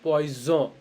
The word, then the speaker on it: poison: And if there is only one S and the sentence, it's spelled as Z, Z. Okay, it's called poison, poison.